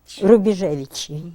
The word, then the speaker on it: Rubejevich: Rubejevich, yes.